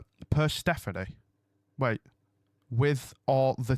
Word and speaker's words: Persephone: Persephone is pronounced... Persephone. Wait. With or the T? Without the T. Persephone.